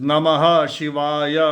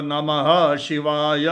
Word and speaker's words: नमः शिवाय: पर द मध्यरी शाखा the pronunciation is नमः शिवाय नमः शिवाय नमः शिवाय नमः शिवाय नमः शिवाय नमः शिवाय it's more intense and the emphasis on ह नमः शिवाय इट मेक्स द मंत्र मोर हीटिंग एंड इफ़ेक्ट।